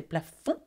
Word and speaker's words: plafond: Okay, we do not pronounce the D at the end of this word. We don't say plafond, we say plafond.